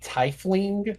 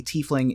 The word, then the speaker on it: tiefling: You're gonna have to tell me how to pronounce this one. A tiefling.